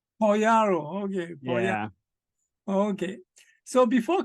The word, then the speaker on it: Pagliaro: Let me get the pronunciation well. Okay. It's Pagliaro. Pagliaro, okay.